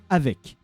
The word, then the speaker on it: avec: Because the word to say with in French is called avec. And yes, then you pronounce the C.